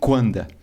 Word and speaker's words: Coandă: efeito com de Henry kanda a pronúncia é diferente porque romeno mas é mais ou